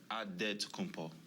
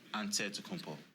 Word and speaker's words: Antetokounmpo: In the Nigerian way, you gotta say it with a D, so it's Antetokounmpo. But in the Greek way, you say it with the NT, like Antetokounmpo.